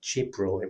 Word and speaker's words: Jibril: Islam piece of work, it's pronounced Jibril within Islam.